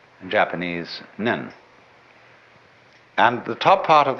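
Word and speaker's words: 念: They have a very interesting sign this it's pronounced nyun in Japanese nen and the top part of the character uh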